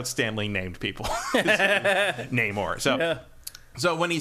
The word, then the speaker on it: Namor: oh okay so because there's always been an argument over how you pronounce his name you neyar the Submariner is more or less how Stan Lee said it but you could say it namore Namor name or you all that stuff some somebody